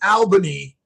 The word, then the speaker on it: Albany: But it's Albany. But but but you're right. It's you pronounce it all.